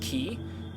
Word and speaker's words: quay: comment that uh Quay q a y is pronounced key I would have know